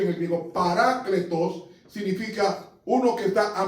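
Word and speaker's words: παράκλητος: Y parácletos, así que se pronuncia en el griego, parácletos significa uno que está a mi lado para defenderme.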